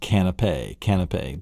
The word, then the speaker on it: canapé: And it's pronounced canapé, but canopy is over the sofa.